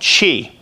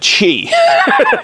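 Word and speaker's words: Qi: tough time pronouncing it q-i technology which is pronounced i found out chi uh not tai chi but chi q-i it's inductive charging technology so when i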